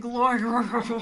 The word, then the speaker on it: Loydgren: Loydgren is my name.